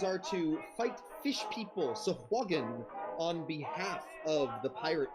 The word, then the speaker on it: Sahuagin: That's how I pronounce Sahwagan. It might not be correct, but it's how I pronounced it forever. For the record, Finny goes Sahuagin. but Southwagon. that's just- Southwagon, but that's his accent.